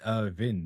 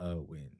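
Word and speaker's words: Erwin: Yeah, they put the little It's Irvin, not Irwin. It's Irvin would be probably the more dramatic pronunciation of that.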